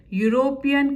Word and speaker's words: European: EU sounds you again. European country, yesterday I gave you an example.